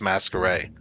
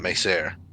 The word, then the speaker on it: Masquerade: Also, for the record, CJ said his name is Masquerade, not Macer. Masquerade.